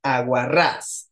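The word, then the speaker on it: aguarrás: lesl Cuéntame aguar ras aguar ras es aguda porque tiene la tónica hasta al final de izquierda a derecha lleva tilde o no aguar ras muy bien les Exacto sí lleva por qué Porque termina con s Okay aguar ras y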